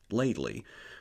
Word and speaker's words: Leadley: maternal grandmother Sarah lley and yes it is pronounced ladely the name d arrives from the northern English